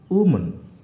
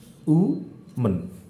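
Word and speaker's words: woman: তেমন দেখো, ও এখানে উচ্চারিত হচ্ছে উ সাউন্ড হিসাবে, কিন্তু তাহলে এটা উচ্চারণ হচ্ছে কি? উমন, অর্থাৎ উমন। এটা যেহেতু শোয়া, অর্থাৎ হালকা অ সাউন্ড, সেই হিসাবে মন এইভাবে উচ্চারিত, তাহলে উমন।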